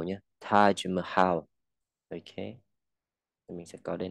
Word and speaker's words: Taj Mahal: Hindi, đọc là Hindi, okay. Tiếng Hindi, tiếng Taj Mahal, ja.